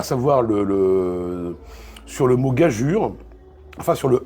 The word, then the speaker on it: gageure: à savoir sur le mot gageure, enfin sur le E égale U, pourquoi EU se prononce U, et lui retrouve un vestige de cette ancienne prononciation, moi j'en ai retrouvé 3.